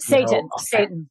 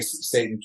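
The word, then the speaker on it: seitan: And then I think, correct me if I'm wrong, I think it's called Sati. You probably want it. Satan. Yeah. Okay, Satan. Yeah, it's actually pronounced Satan.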